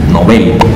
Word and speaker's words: Nobel: también cabe destacar que muchas personas se refieren a este empeño como nobel en lo cual es una mezcla que esta palabra en sueco tiene el acento en la última sílaba nobel así que es una palabra aguda por lo cual se recomienda utilizar nobel en vez del nombre ahora me encuentro desde